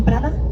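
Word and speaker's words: Prado: here we have Prada how do you say Prada you say Prada Prada Prada yeah you know all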